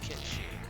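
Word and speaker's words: Cait Sith: And no, I'm not going to pronounce it the Final Fantasy VII pronunciation, because there is only one carded question that has that particular phonetic pronunciation. So I'm going to call these muskats, or Ketshi.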